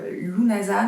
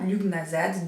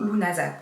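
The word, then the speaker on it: Lughnasadh: Alors déjà il faut savoir que comme beaucoup des mots celtiques, Lunasa ne se dit pas Lugnasad, donc comme ça s'écrit, mais du coup Lunasad, tout comme Samhain ne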